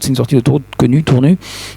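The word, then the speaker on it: Tournus: C'est une sortie d'autoroute connue, Tournu. On ne prononce pas le S en l'occurrence.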